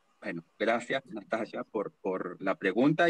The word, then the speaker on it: Nastassja: Bueno, decir varias cosas gracias, Natasha, perdón, es Natasha, se pronuncia. Bueno, gracias, Natasha, por la pregunta y por el comentario.